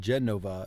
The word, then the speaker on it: Genova: a Genova vioo aloro the letter g in Genova is pronounced like the G in viio Vio I got to